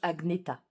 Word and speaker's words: Agneta: le premier tome euh le prénom agetta se prononce Agneta voilà pour celles qui